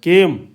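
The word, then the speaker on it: came: रहेगा जाएगा लेकिन ये जो ना इसके जो उच्चारण है लंबा हो जाएगा केम केम ठीक क हो गया इसके ऊपर ये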